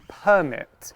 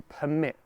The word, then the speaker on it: permit: So the noun would be permit. You need a permit. If we're talking about the verb, we say to permit. So you might notice the stress on that word changes a little bit.